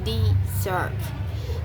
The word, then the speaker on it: desert: For example, in the word desert, noun meaning a dry region, in the first syllables is stressed this earth. In the word desert, for meaning to abandon, the stress shifts to the second syllables desert.